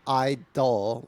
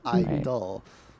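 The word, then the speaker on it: (G)I-DLE: Like, you know, and so not idol, like a object of worship, but I-dle, like there's nothing, you know. Anyway, so it's following that, and the G was always silent in the pronunciation because it was symbolizing that there were more than just a girl group.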